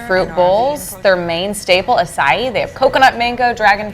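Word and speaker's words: açaí: instead, and then I'll remember like, oh yeah, acai.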